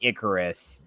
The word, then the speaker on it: Icarus: The whole pronunciation is supposed to be Icarus.